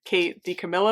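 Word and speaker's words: Kate DiCamillo: of Edward Tain by Kate D Camilo I think is how you say her name okay this is what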